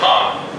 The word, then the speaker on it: Han: It's pronounced Han.